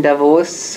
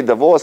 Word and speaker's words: Davos: No, it was funny because, like you say, Davos, like, you know how to pronounce it. Like, I'm probably the only one in the whole room. It's not Davos, Davos. It is Davos, yeah.